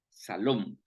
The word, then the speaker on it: Shalom: Por eso es de que ellos en la traducción no ponen Jehová Shalom, sino que lo que ponen es Jehová Salom.